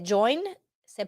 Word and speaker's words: joins: La S al final de join se pronuncia Z.